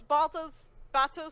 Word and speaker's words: Bato: Bato Bato of the Water Tribe, yeah.